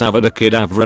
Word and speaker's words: Avada Kedavra: You're saying it wrong. It's Avada Kedavra, not you you voo ducky doo lavra.